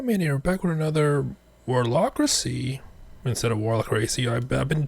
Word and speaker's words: Warlockracy: Yeah, man, you're back with another Warlockracy instead of Warlockracy. I've been told that's how you pronounce it, like democracy.